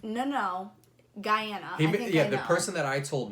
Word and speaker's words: Guyana: A lot of people think that I say it wrong and that I mean to say Ghana, and I do not. I mean Guyana, which is in South America.